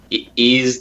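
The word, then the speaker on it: Ys: Is it Wise or is it Ease? Wise? Ease? Yep. Ease, the Oath of Felghana.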